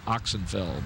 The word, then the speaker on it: Oxsenfeld: They spell that Oxsenfeld, but it's pronounced, they told me, like Oxenfeld.